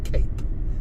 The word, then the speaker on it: Cap: cap Saint George Hotel yes cap as in Cape okay so there's confusion on how to say it because the English has been translated into Greek and then back anyway some people say cap some people say Cape Saint George Hotel not